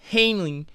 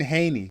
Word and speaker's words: Haney: you know that Ryan Garcia just beat Devin Hanley in an embarrassing loss I know I pronounced it wrong what yeah Devin Haney anyway some say that Haney's jaw is even